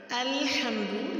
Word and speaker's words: الحمد: تلفظ دیکھ لیتے ہیں۔ الحمد میں آپ نے اس کو الحمد نہیں پڑھنا، الحمد لام کو مجھول نہیں کرنا اور ہا کو واضح کرنا ہے، الحمدو نہیں کرنا، اور آپ نے اس کو الحمدو۔ اسم اللہ کا لام